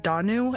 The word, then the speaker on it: Danu: the Irish Pantheon um I believe it's pronounced danu and if is it did I get it you did hell